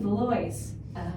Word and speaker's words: Valois: I realized I was saying it wrong when the Uber didn't recognize where I told them to take us. And I says, oh, you mean Valois.